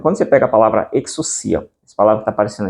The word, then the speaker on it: ἐξουσία: Porque aí tem um ditongo aí, o o ditongo aí. Então você lê como U e não como o, tá? Então você lê como exucia dentro dessas pronúncias mais tradicionais.